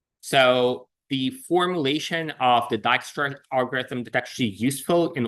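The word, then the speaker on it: Dijkstra: Uh but for the record, it's it's it's it's Dyra.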